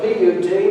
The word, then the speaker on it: Put: Some of your translations may say Put, spelled sometimes P-H-U-T, other times it's spelled P-U-T, but it's Put.